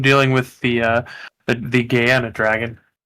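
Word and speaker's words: Gehenna: Have fun with the Have fun dealing with the uh the gayana dragon. Guyana.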